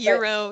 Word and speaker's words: gyro: I don't know how to pronounce that, but Euro, yep.